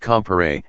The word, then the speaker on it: Comparet: presented by Bertrand Lewis comparat pronounced compere and Bertrand Lewis compere